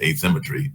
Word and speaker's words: AI Symmetry: So yes, he actually is a Cisco engineer, but he works for his own company, which is AI Symmetry, but it is pronounced asymmetry and all into that way.